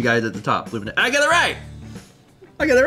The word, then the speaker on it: Luminea: And there's a pronunciation guide at the top. Luminea.